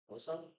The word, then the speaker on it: Joson: Well, everyone says Joseph, but the correct pronunciation is Joson. Silent J.